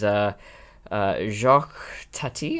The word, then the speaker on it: Jacques Tati: But yes, going to Playtime, which is Jacques Tati, I think is how you pronounce it.